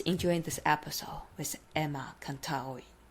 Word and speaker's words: Contaoe: It's like the AOE. So I'm Filipino, and the like roots of the Philippines is Spanish, part Spanish. So the pronunciations is that you say every vowel as they sound.